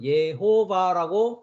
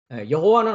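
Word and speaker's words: יהוה: 목적어 있니다 그니까 예호바 저는 예호바 어 발음을 합니다 여호와는 한글 발음이고 예호바 어 히브리 발음입니다네 예호바 명령하기 시작한다 미완료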